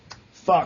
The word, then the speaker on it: Fcuk: How do you pronounce that? Fcuk? Fuck. Oh, you pronounce it fuck then? Okay. Because it's spelled fcuk. Yeah, it doesn't matter how it's spelled. Yeah, the C is silent.